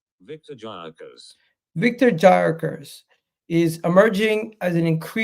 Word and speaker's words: Gyökeres: How do you pronounce his name? Viktor Gyökeres.